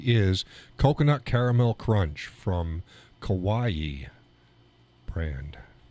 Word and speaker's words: Kauai: Again, tonight's coffee is Coconut Caramel Crunch from Kauai brand. It's like Hawaii, but with a K. Not spelled the same. It's not pronounced the same. It's pronounced Hawaii with a K, Kauai, but it's not spelled that way.